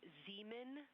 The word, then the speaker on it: Zeeman: We believe that that is Zeeman Crater. Zeeman. Okay, and can you say the first letter? I may be pronouncing that wrong. What's the first letter of that word? Z. Z. Zulu. It's Zeeman. Zeeman.